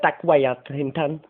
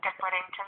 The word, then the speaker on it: Dick Whittington: I like to watch a wee bit of Dick Wellington. Isn't that how you say it? Dick Wellington? Sorry? Dick Wellington, is that? Dick Whittington.